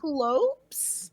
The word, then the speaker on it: Cyclopes: pronounced it Cyclopes. I did too. Cyclopes?